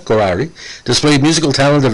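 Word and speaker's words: Khaury: moronic maronite catholic priest now uh karari uh k-h-a-u-r-y that's uh how how we pronounce in canada karari displayed musical talent at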